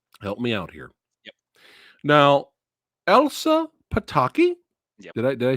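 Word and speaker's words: Elsa Pataky: a question kyle help me out here now elsa pataki yeah did i did i say her name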